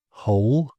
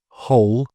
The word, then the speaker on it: whole: So, I don't know, it says think of W here as a friendly ghost, always seen but never heard, as these examples show. Right, wrong, sword, answer, whole, and who. So right, wrong, sword, answer, whole, and who.